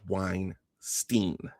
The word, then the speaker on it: Weinstein: Uh Michael says Weinstein. All right. So, from for from this point on, I will attempt to pronounce it as Weinstein.